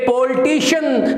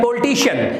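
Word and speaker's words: politician: देना चाहिए कि ये पॉलिटिशियन नहीं है, ये पॉलिटिशियन नहीं है, ये पॉलिटिशियन नहीं है, ये है पॉलिटिशियन, ये है पॉलिटिशियन, सीएन नहीं शन। ओके, शीयन नहीं है, शन है सिर्फ।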